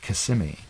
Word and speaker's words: Kissimmee: It's actually in a city called Kissimmee, and it's an Indian word, and it's Kissimmee. It's pronounced Kissimmee, and that's where Disney World is in Florida.